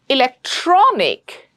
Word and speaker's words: electronic: Electronic. Hit that tro. Hit it hard.